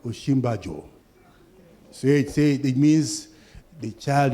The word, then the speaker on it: Osinbajo: Sikuru came and said, it's called Osinbajo.